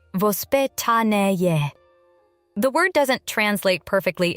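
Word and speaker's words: воспитание: In Russia, parenting has traditionally been influenced by a concept called vospitaniye, pronounced vospitanie.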